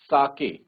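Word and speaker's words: sake: देखो यहां पे कहा भी है कि सा को प्रोनाउंस करा जाएगा। जैसे फादर में फ को प्रोनाउंस किया जाता है और के को प्रोनाउंस किया जाएगा। जैसे हम वे बोलते हैं तो वैसे। तो क्या बनेगा बच्चों? साके। तो we will call it एज साके नॉट सीक।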